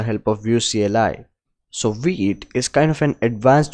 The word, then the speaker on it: Vite: taking a look at v8 or white i don't know how to pronounce it but i have heard it's called wheat so it's it's a